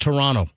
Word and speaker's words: Toronto: that have scolded me you're not supposed to uh over emphasize over emphasize the second T in Toronto you're supposed to say just Toronto Toronto Toronto game four tonight game